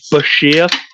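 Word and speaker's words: Bichir: The absolute correct way, of course, is biker. That's got to be the only way you can pronounce it. But yeah, as he put in his book, it's pronounced Bashir.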